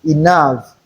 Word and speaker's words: enough: It can be realized as two sounds that is a and f as in enough.